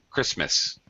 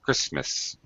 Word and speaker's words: Christmas: We don't really pronounce this T, you know. Christmas. It's there, but it's not there. It's a dark T. It's not fully pronounced. Christmas.